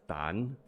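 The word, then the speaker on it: 陳: Chen is Dan.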